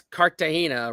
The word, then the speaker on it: Cartagena: Okay, first of all, that's Cartagena, right? Yeah, Cartagena. Cartagena? Okay. I figured that was another mispronunciation, which I also mispronounced, but yeah, whatever.